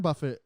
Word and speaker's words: Buffett: Yes, Warren Buffett is, I think, a very well regarded person. It's pronounced Okay.